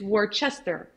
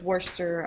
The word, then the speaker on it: Worcester: this recipe so and i have a tendency to pronounce it the way i'm typing it so i don't misspell it when i'm typing it so it's worcester but i know it's worcester i i just i